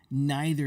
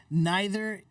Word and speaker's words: neither: Neither and either, they both have two pronunciations. You can say neither or neither. You can say either or either. Both are completely acceptable.